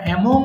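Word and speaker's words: among: দেবো ইনশাল্লাহ আমি বলেছি এমাং বলেছি তাই না এটা আমরা এমং বলে থাকি সঠিক উচ্চারণ হবে এমাং এবং এমাং এর ব্যবহারটা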